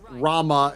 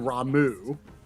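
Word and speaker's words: Ramuh: between final fantasies uh such as Rama and ramu um Rama was said in 15 and ramu is said in 14.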